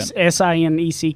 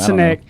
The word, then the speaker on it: Sinek: A great book to go get is Simon Sinek, and I always say his last name wrong. No, you got it. Sineck. That's how I say Simon it. Sinek.